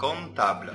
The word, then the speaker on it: comptable: ليه ما قلناش comptable؟ لأن البي لو جه وراها حرف التي، حرف البي دي لا تنطق. دايما لو في بي وفي بعدها تي زي الرقم 7. 7 بنقول ايه؟ بنقول 6. اس او بي تي. ومع ذلك بنقول 6. يبقى comptable أكن البي دي مش موجودة في النطق.